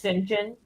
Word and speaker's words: St John: name in Jane Eyre look at Saint John his name is Sinjin Sinjin right that's right